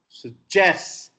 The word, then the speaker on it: suggest: Another, suggest, because the stress is on ja.